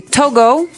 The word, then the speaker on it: Togo: So it's Togo. That's the way you pronounce it. Cuz if you look at it, I would say to go, right?